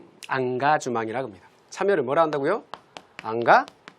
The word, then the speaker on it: engagement: 앙가주망. 발음 한번 따라해 보실까요? 앙가주망.